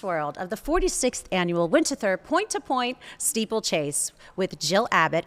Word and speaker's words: Winterthur: How do you pronounce Winterthur. it? Winterthur.